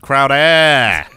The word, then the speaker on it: Crowder: yeah I mean it it's it's pronounced Crowder Oh bring it to